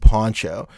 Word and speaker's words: Pancho: Well, so it's interesting, Juan, because my name is Poncho, but it's spelled Pancho. So like, but it's not pronounced like Pancho. It's pronounced Poncho.